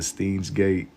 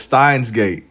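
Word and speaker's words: Steins;Gate: Saying saying the steam he said the steam's gate. They got to change the name. It's pronounced how Oh, it's Stein's gate.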